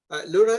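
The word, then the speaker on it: LoRA: add the Laura paper Laura literally is pronounced like written like that with a little o it stands for low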